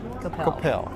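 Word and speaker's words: Coppell: Capel or Coppel? Capel.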